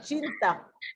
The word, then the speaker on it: cinta: Oh, ako Sinta Padamu. Ako Cinta. Not Sinta, Cinta. Cinta. Cinta. Every letter C, if it's followed by an I and an A, is pronounced ch.